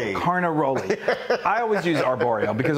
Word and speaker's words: Carnaroli: Carnaroli. Carnaroli.